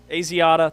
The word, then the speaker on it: Asiata: Asiata, thank you. That's it. All right. I'm sure that's it. know how I pulled that out. I do remember him though. Matt Asiata, yeah.